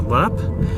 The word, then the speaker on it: Leap: the castle lap is spelled le AP but pronounced a lap it is notorious for quite a few gruesome